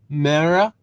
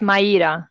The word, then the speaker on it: Maya: this okay I'm Amy mispronouncing this name but Mara I'm unmuting you you are free to ask your question hi uh it's Maya okay thank you can